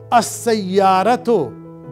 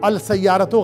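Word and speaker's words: السيارة: Sayyaratun, a car, as sayyaratu, the car. Dekhi, seen ke saath jab lam aata hai to wo silent ho jata hai. As sayyaratu, al sayyaratu galat ho jayega.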